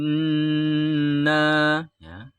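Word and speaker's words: إِنَّا: persatu cara membacanya Hai Inna tidak kita mengucapkan in ini harus mendengung lamanya dua ketuk karena di sini ada hukum bacaan Al gunnah sebabnya apa ada Nun bertasydid yang kayak sisirin namanya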